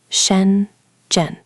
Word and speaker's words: Shenzhen: You might fly into the city often written as Shenzhen. Notice it has two retroflex sounds back to back, sh and j. Both need that curl. Try it slowly. Shenzhen.